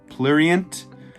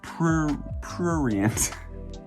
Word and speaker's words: prurient: I thought this was plurient, perhaps. I looked up this. This is cray, and it's prurient. A word that I have no idea how to pronounce. It is prurient.